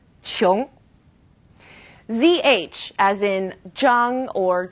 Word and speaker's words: qiong: Now here's an interesting one, Q as in qiu or qiong. It's similar to the CH sound in English, kind of like a chu, qiong.